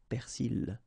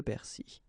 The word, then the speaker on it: persil: In some cases you can hear persil, okay, but normally it should be le persil.